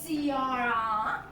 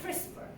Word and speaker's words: CRISPR: It really, you don't pronounce it as a CRR. You really say CRISPR. It's a crispy word.